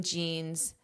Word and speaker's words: genes: cats are the same genes in humans. And hopefully you've noticed that the pronunciation of this word is the exact same as the the clothing type, a pair of jeans that you wear.